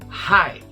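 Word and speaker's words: high: para o próximo tópico Hi lembra que esse g h e no final são mudos está tanto jeito apagar a pronúncia vai ser a mesma do comprimento Oi Ray tá você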